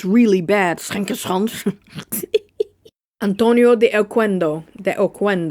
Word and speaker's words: Oquendo: Antonio de Oquendo. You gotta say it like a Spanish person. I'm saying it like an Italian. Antonio de Oquendo.